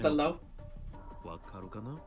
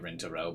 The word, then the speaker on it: Rintaro: Do you know, Lintalo? I know that I'm memeing when I say him like that, by the way. I know it's like that's him actually pronouncing it Rintaro, but I like pronouncing it all funny.